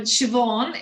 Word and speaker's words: Siobhan: you nestina it's um siobhan is how you pronounce it so it's like a v the bh is pronounced